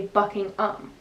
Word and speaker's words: Buckingham: as ham h.a.m but in england they pronounced as um so you don't say ham you say bucking um if that makes sense